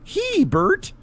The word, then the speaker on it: Hebert: and my last name is spelled HB r t so just say he Bert hey B all right